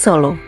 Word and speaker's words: Solo: Sala berasal dari bahasa Jawa asli, yang dalam pelafalan bahasa Jawa disebut Solo.